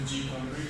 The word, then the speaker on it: GCompris: And so basically SS silent, so we have pronounced it gCompre, and it's educational software